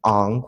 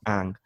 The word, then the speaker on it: Aang: So what his rationale behind naming him Ong was that it has to match Asian culture. Like, you know, if you stay in wherever, like in Southeast Asia, it would be pronounced Ong, not Ang.